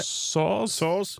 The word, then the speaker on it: Soares: 2, and can only complete the Cedric Suarez. Is that how we pronounce it? Soares?